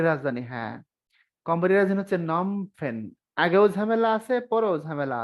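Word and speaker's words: Phnom Penh: পেনের ঝামেলাটা কি তলে মাঝখানে হচ্ছে বানানটা এন ও এম নম পি এন পেন এই হল নম পেন শুরুতে একটা পি এইচ শেষে একটা অতিরিক্ত এইচ আপনি এভাবে মনে রাখবেন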